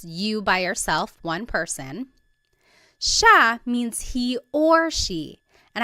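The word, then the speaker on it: siya: It looks like it should be pronounced sa, but it's actually pronounced sha sha. There are some regions in the Philippines that might pronounce it sia but for the most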